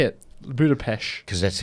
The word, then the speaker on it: Budapest: Budapest. Because that's how That's the proper pronunciation of how Hungarians say And it's it.